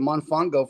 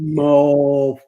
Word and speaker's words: Mofongo: Captain Billy J says Jeremy needs some Monfongo from San Juan, made from plantains. Mofongo. Say it right. Mofongo.